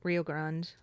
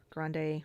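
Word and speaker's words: Rio Grande: But the other thing about Rio Grand, Grande, Rio Grand, which however you want to pronounce it, and we learned it both ways in school since I'm from Texas.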